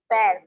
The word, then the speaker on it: pare: पैर, पैर, पैर, वो इसलिए क्योंकि वो जो ब्रिटिश इंग्लिश है उसमें ए को एग प्रोनाउंस करते हैं, इसी वजह से उसका प्रोनाउंसिएशन वैसा ही रहेगा।